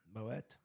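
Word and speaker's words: Moët: Dom a $3 Moet we call it moette but it's Moe champagne uh $2 Corbell champagne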